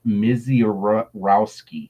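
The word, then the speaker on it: Misiorowski: It's so Yeah, it's Mizor Rouseki.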